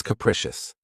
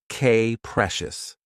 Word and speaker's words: capricious: of my favorites, is capricious. This word has three syllables, and the stress is on the second syllable. Keep in mind that the first syllable has that schwa sound. K-precious. Capricious.